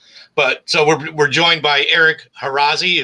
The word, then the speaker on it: Eric Harazi: But so we're joined by Eric Harazi. Is that how you say it, Eric? Correct. Yeah. Yeah, Eric Harazi.